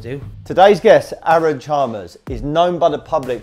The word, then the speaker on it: Chalmers: That's Chalmers, how you put it. Chalmers, yeah. I didn't know how to pronounce it properly, but Chalmers, yeah?